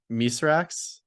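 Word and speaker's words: Mithrax: love ido is it wait how do you pronounce mythic's name again this is the the fallen or the elix knee call him miserax yes okay so with the title they sort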